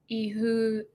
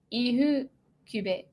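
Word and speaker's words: Ifukube: I think, the main Japanese composer I know is Akira Ihukube. I remember the F is pronounced H in Japanese. Ihukube.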